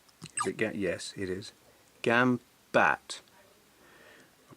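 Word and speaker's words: Gambatte: Gambat. I'll pronounce it right one day.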